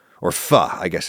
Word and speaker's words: pho: You think of a boiling hot bowl of pho, or "fuh," I guess it's pronounced. Apparently, some people in Vietnam actually pronounce it "foh," in addition to "fuh," but anyway.